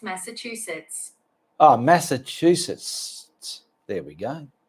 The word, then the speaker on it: Massachusetts: Hey, Google, how do you pronounce Massachusetts? That's pronounced Massachusetts.